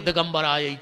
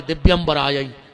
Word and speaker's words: दिव्यंबराय: करके चली जाती है तुमने लगे हो दिगंबर आय दिगंबर दो जने नग्न होके आओ जबकि उच्चारण है दिव्यंबराय हे माता तुम्हारे दिव्य